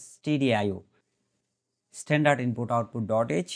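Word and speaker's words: stdio: file এসটিডি আইওড এইচ স্টুডিও না এটা এটা স্টুডিও না অনেকে আবার স্টুডিও করে ফেলে স্টুডিও স্ট্যান্ডার্ড আইও বেটার উচ্চারণ যা আমরা এভাবে করতে পারি বেটার প্রনান্সিয়েশন হল স্টিডি আইও স্ট্যান্ডার্ড ইনপুট আউটপুট ডট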